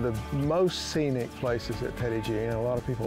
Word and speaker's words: Petit Jean: They pronounced it Petit Jean. In Arkansas, it's come to be known as Petit Jean.